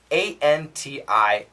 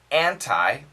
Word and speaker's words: anti: are fine and remember we've studied the N can kill the T can kill the T